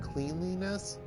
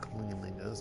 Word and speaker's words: cleanliness: Not cleanliness? You'd think it would be pronounced cleanliness based on.